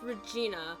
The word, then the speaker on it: Regina: this case she is it is pronounced Regina because I think it's supposed to be a play on regent and Regina as in the Queen Regent is is the word